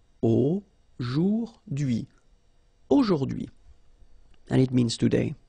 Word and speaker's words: aujourd'hui: So the first one, A-U-O, jour, and then d'hui, okay? H is not pronounced, so you only get this d'hui thing. Aujourd'hui.